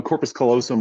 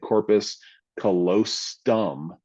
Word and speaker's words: corpus callosum: But corpus callosum was an answer, although the girl got it wrong because she mispronounced it. She said corpus callosum. She added a T in there, and so they didn't give her credit for it.